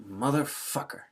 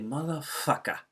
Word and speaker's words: motherfucker: And then you can say just like that, getting the R at the end, motherfucker. That's usually a little more serious when we pronounce the R at the end. And that's usually targeted at someone else when we pronounce every letter there. But if you say motherfucker, so you kind of get more A vowel sounds there, and the R is kind of disappearing.